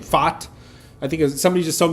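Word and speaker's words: Pfaadt: however say his name, Fott. I think somebody just told me ignore the P and just say Fott.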